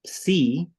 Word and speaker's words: psi: Luego um, es la psi, como si fuera, lo de escribir, se pronuncia como P, S, pues sí, con PS.